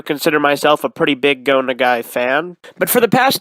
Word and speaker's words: Go Nagai: myself a pretty big Go Nagai fan. But for the past 2 years since I first got into him, I've been pronouncing his name Go Nagi, which is completely incorrect.